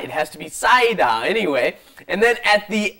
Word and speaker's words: 쌓이다: Listen to Lisa's pronunciation. 쌓이다. 쌓이다. Yes, don't do the 쌓이다. It has to be 쌓이다.